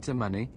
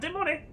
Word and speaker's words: de Monet: Are you the Count de Money? It's de Monet. Are you the Count de Monet? It's pronounced de Monet.